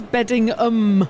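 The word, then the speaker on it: Beddingham: And Alarian, again, correcting our pronunciation says Beddingum.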